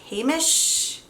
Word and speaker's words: Heimish: I believe it's pronounced Heimish. I'm not sure.